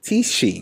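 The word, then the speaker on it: Tisci: Tishi. Mm-hmm. Okay, so we have the House of Tishi, the House of Tishi. Miyake Mugler. Tishi.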